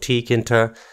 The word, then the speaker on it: tkinter: to pronounce it but just as you see it that's how you pronounce it it's called tkinter all I didn't make